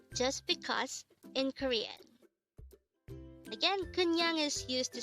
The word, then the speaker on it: 그냥: which means just because in korean again kunyang is used to say just because this is